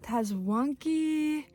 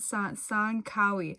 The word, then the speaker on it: Tsankawi: The T is silent. Tsankawi.